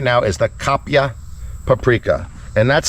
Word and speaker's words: kapia: so what you're looking at right now is the kapia paprika and that's spelled k-a-p-i-a but it's also spelled k-a-p -y-a kapya this chili is grown in the southern